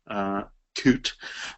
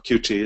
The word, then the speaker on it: Qt: Notice that we have one component here, Qt, or Qt is sometimes pronounced, which has a lot of other stuff under it, subcomponents and so forth.